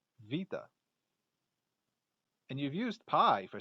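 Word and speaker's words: βήτα: alpha beta and gamma that beta in greek is really pronounced more like vita and you've used pi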